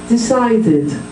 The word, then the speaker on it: decided: So if the word ends in T or D, you add a syllable.